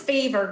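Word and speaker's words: Fiverr: that's right f-i-v-e-r uh-huh i think it's pronounced fiber but either way we're in the south it's fever girl either yes that's fiber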